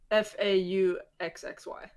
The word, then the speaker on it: Fauci: Did I just mess up Fauci? No, it's like Foxy, but it's spelled like faux. Fauxxy.